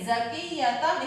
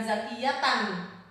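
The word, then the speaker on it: زَكِيَّةً: Zakiyatam ini ada tanwin ya, fathah 2 menghadapi huruf ba. Maka cara membacanya adalah zakiyatam, bukan zakiyatan, tapi zakiyatam bi.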